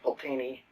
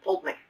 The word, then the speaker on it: Pulteney: But I just sort of assumed that I always assumed that it was pronounced Old Pulteney. And I was watching a video, and somebody said Old Pulteney, and somebody from the distillery corrected them and said, that's pronounced Old Pulteney. So, it's apparently how it's pronounced.